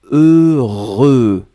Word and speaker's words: heureux: après que vous avez eu eux le voulaient prononcé deux fois heureux donc ne ne regardez pas le h ne